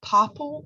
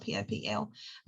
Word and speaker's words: Popl: You can also do like a digital business card, like Popple. If you've never heard of that before, that's pretty cool. Popl is how you spell it, Popl. Popple is kind of like a digital business card.